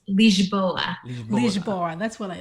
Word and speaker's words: Lisboa: and Lisbon or in Portuguese it's Lygia bola lisboa that's what I like why are you there